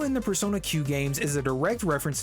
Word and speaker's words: Persona Q: the case is because Persona Q took a lot of its gameplay elements from those games and the last syllable Q sounds like the letter Q hamaru in Persona 3